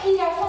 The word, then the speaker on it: jirafa: Es el mismo sonido fuerte, pero jirafa se escribe con J. Con J.